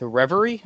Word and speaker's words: Reverie: We are here with Reverie. Is that how you pronounce it?